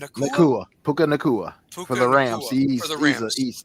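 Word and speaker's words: Puka Nacua: Um, I even see um uh is is this how you pronounce his name? Puka Nua Nua Puka Nakua for the Rams.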